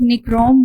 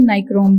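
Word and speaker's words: nichrome: Zinc oxide, heating of निक्रोम wire, dissolving common salt in water. Students इसको निक्रोम wire भी कहते हैं, नाइक्रोम भी बोलते हैं, तो दोनों तरह इसे प्रोनाउंस किया जाता है।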